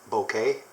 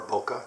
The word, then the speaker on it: bokeh: It's a 90mm, and these are known to have fantastic bokeh, or bokeh, depending on how you want to pronounce it.